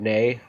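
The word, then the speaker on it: née: back and nancy reagan nay davis which i don't know if i've ever heard that term out loud nay that's like yeah i didn't know how you pronounce it like that like that's her maiden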